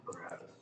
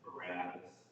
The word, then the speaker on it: Barabbas: Does anyone remember why Barabbas was in jail?